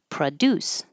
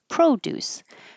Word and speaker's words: produce: increase in profit um this is a good contrast between the verb with stress on the second syllable produce and the noun with the stress on the first syllable produce so when the p is not stressed it changes to PR Pro produce and in this case produces and in this case the pro is stressed and it sounds like